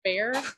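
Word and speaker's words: Bexar: It is pronounced bear. Oh, but really be e x a r is pronounced bear.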